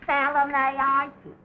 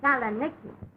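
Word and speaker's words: Salonika: Mine's in Salonaitis. Oh, you'll excuse me, Mrs. Haggerty, but the correct pronunciation of that is Saloniki.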